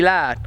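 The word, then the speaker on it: Louth: County Loud. County Loud. Yeah. So hard for me to pronounce. County Loud. That's how I'd say it.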